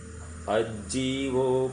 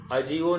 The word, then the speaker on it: अज्जीवो: फिर से, अज्जीवो पुण्यो, अजीवो नहीं कहना, अज्जीवो, ज को ज है ना, तो हमको डबल प्रोनाउंस करना।